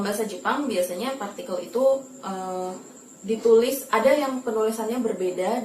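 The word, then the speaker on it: へ: Kemudian untuk partikel e yang berarti ke itu ditulis menggunakan hiragana he.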